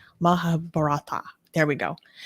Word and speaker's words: Mahabharata: Mahabharata.